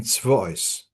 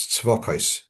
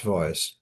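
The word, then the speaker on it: צבאות: in Pirkei Avos about the name Tzvois and how that we that in Chabad we don't hear the name as it being pronounced as Tzvokos. It's pronounced Tzvois.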